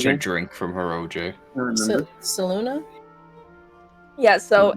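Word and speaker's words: Selûne: drink from her OJ saluna yeah so it's spelled s e l u n e but the the last e has a little thingy on it that makes it sound like a uh thank you TR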